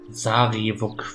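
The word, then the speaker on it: Sarevok: Sarivok wird geschrieben, genau wie ausgesprochen wird.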